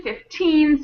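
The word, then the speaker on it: fifteen: On 14, 15, 16, and all of the teens, the syllable, the teen syllable is stronger. So, 14, 15, 16, that's where the stress of the word is on the teen.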